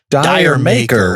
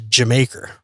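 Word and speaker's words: D'yer Mak'er: a pronounced I mean you read it in you know an American reason it's dire maker what the hell is that but the way a cockney person would pronounce it is Jamaica as in did you make her so the names a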